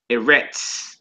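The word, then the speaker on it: ארץ: it those how does how does it sound based off the vows underneath it a that that that makes a e like a egg sign ere ere which means Earth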